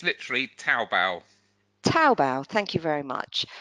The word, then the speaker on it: Taobao: Chris, you probably, how would you pronounce that one, Chris? It's literally Taobao.